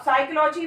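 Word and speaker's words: psychology: अब साइकोलॉजी में P silent है, ऐसा हमारे हिंदी में कहीं नहीं होता।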